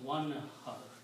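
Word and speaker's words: وانحر: When you put a waw in the beginning, then you do not pronounce the alif. You pronounce one har. That's the word in the Quran. One har. This is it. Yeah. So when you do not pronounce this alif, you put a little swad on it, which means hamzatul wasal. Do not pronounce this alif. Okay. So when you do not pronounce the alif, this reading becomes one har.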